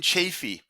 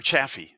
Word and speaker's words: Chafee: Okay, well, Lincoln Chafee, or Chafee, excuse me, got to pronounce that right.